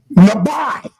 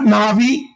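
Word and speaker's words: נביא: You say how do you pronounce the word prophet? Nabi. That's how you pronounce it. Not na'vi.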